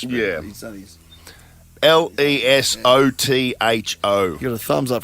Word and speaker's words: Lesotho: I had Is it Latuku? Hey? Was it Latuku? No, Lesotho. Lesotho. Ooh. Lockie's just throwing that in to try and trick Ash. But Yeah. He's done his... Lesotho.